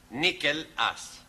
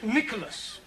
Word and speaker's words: Nicholas: upon a time there was a man called nickel us once upon a time there was a woman called nickel it's pronounced Nicholas alright once upon a time there was a